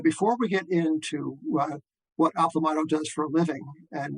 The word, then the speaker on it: Aplomado: are the progenitors of Aplomado. Rhymes with tomato.